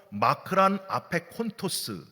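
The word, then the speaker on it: μακρὰν ἀπέχοντος: 헬라어로 마크란 아페콘토스 이렇게 발음을 하거든요.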